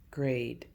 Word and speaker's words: grade: Grade. Gur. A is going to say her name because E is quiet.